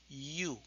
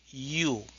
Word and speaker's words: you: decimos you you bueno en inglés se sugiere que lo suavicemos y lo pronunciamos como una iu y u you Sí sí Ahora tengo